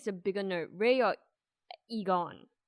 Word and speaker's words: Egon: So speaking of nerd, like who do you think is the bigger nerd, Ray or Egon? Right, that's how you pronounce his name.